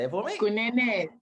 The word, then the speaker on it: Kunene: Kunene, say it right. Yeah, Kunene.